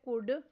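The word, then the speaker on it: could: Next word है कुड। इसमें silent letter L पर सर्कल करना है।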